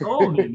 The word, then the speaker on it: Olney: Where do I not know where Olney is? I should pop you upside your head. Of course I know where Olney is. Some people are like, is it Olney or is it Olney? It's Olney, man.